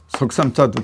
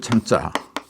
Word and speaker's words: 參: 3자도 있어요 요것도 석삼사에요 근데 이거는 발음이 두 가지죠 석상자도 되고 또 참여한다 참여할 참자 두 가지로 발음이 돼요 어떤 때는 3이 되고 어떤 때는 참이 되고 두 가지로 발음을 해요 요거는 요거는 발음이 한